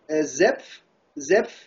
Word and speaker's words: Zepf: Zepf. How do you spell that?